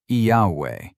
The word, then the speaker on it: Yahweh: The name opens with Yah. Its middle letter, Wah, adds a soft W sound. So a shape appears. Yah, a W, and a closing syllable. The second clue comes from the early church. Greek had vowels, so Greek writers tried to spell the name out. Clement of Alexandria wrote Yahweh.